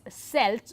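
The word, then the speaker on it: Celts: And this is very interesting because though they uh though the Kelts and some of them interestingly it's also pronounced as Selts but throughout this course we'll be using the pronunciation Celtic.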